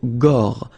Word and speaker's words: gorge: Okay, remember when you've got this combination G and O, you get the sound go, go. Okay, so gorge, gorge. And then G and E gives je.